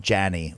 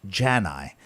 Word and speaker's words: Janney: nothing more upsetting than someone saying something like jason janney or jason when the proper pronunciation of my last name is jan i and if you are